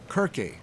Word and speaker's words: Kirke: Dictionaries give the origin of church as the Anglo-Saxon root kirke. It's spelled C-I-R-C-E, but the C is from the Anglo-Saxon is a hard C, more of a K sound.